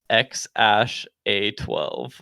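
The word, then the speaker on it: X Æ A-12: it's pronounced x-a-12 that poor kid like imagine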